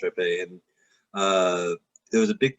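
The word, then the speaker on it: Rappe: It was her name was Rape. Virginia Rap. It's it's pronounced Rape.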